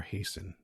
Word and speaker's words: hasten: 67 down three letters hasten or hasten with a silent uh t three letters h starts